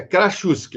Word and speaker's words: Krasucki: Você acabou de pronunciar para mim, mas ainda assim é Krasuski.